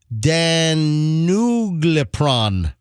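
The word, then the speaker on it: danuglipron: milligram or 80 milligram versions of this drug Dan nug lepron I'm trying to I'm trying to phonetically pronounce this drug once you know everybody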